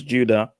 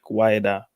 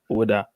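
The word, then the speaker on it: Ouidah: well when the french when the french came they pronounced it as judah but the locals call it like wider or woulda this the city i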